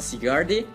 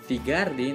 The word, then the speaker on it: Zygarde: a este nuevo Pokémon legendario que se llama sigardi o sigarde dependiendo de la pronunciación en sus en tus juegos de Pokémon